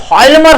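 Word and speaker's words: Hjalmar: लाने का जिम्मेदारी अर्थशास्त्री हॉल्मर शॉक्ट को सौंपी। हॉल्मर शॉक्ट, ठीक है। अब देखिए नाम ध्यान रखिएगा, इसमें जेड जो है ना, जे जो है वो साइलेंट है, इसलिए हॉल्मर पढ़ेंगे इसको, है ना।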